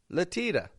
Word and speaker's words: Latia: but I would say latia for that name so that's got a couple of schwas in there and a flap T before the final schwa we also have in